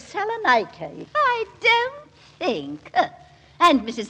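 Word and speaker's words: Salonika: have a son at salaki and of course mine is fighting in France oh really Mrs Dary if you'll excuse me Mrs twiley the correct pronunciation is Salan I don't think and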